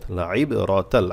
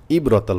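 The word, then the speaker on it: لَعِبْرَةً: ফায়াজের ফি জেরে বসে জমলা ইয়া, তাল খারা জবর মাদের হরকত, লাইবরাতাল, আইন অবশ্যই গলা থেকে আনবেন। ইবরাতাল বলে কিন্তু হামজা হয়ে যাবে, ভুল হবে।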